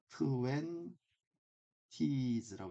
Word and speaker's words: twenties: 자, 이럴 때, t는, 발음 안 한겨. twenties, twenties, twenties,라고 요거, t 발음 안 하면 twenties, twenties, twenties, twenties. 물론 twenties라고 당연히 읽을 수도 있는 거죠.